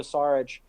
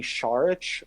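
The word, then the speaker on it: Šarić: I still I guess I still pronounce his name incorrectly it's supposed to be shark or just lookout more of like an H in the front part of it yeah yeah you gotta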